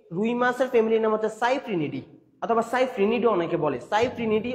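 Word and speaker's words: Cyprinidae: নামের শেষে দিয়ে দেখবে DAE বা ডি থাকে, DAED উচ্চারণ ডি। তো এই রুই মাছের ফ্যামিলির নাম হচ্ছে সাইপ্রিনিডি অথবা সাইপ্রিনিডি, অনেকে বলে সাইপ্রিনিডি অথবা সাইপ্রিনিড।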